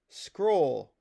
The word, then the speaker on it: Xcrol: X C R O L. That's pronounced scroll. Just like that. So, just like xylophone. Scroll. Like there's a little little less than xylophone, but you get it.